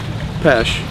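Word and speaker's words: Peche: Just across the water here is Peach Island, and Peach is spelled P-E-C-H-E, Pesh, for fish.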